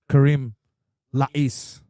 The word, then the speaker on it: Karem Lakiss: He goes by the name of Karem Lakiss. Good pronunciation.